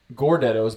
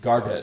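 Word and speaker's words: Gardetto's: It is the Gordettos, but I'm pretty sure they're pronounced Gardettos.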